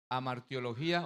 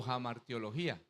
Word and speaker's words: Hamartiología: La palabra que que en el griego se refiere al pecado es amartiología o jamartiología. Sí, algunas las pronuncian con jfrar al blanco.